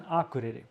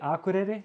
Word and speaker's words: Akureyri: So they would say, I say Akureyri, like, and the K when I pronounce it, it sounds like G, at least in Icelandic, like Akureyri. But they say Akureyri, Akureyri.